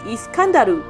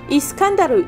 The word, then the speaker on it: Iskandar: 到他被叫的名字是 Iskandaru，有时候会翻成伊斯